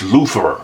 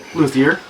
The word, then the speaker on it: luthier: player than a bass lutherer. Now, is that how you pronounce it? Lutherer? Luthier. Luthier, not lutherer.